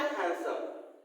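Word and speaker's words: handsome: जैसे मान लीजिए मैंने बोला हैंडसम, जैसे कि मैंने स्टार्टिंग में बताया था कि हैंडसम होता है, हैंडसम में डी एक्चुअली में क्या होता है? साइलेंट होता है, हैंडसम, है ना।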